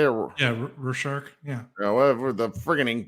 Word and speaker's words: Rorschach: Yeah, Rorschach.